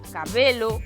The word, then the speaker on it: cabelo: pronunciar con E aberto, salvo algunhas poucas que só se poden pronunciar con E pechado. Estas son as 5 máis comúns: cabelo, camelo, felo, grelo e pelo.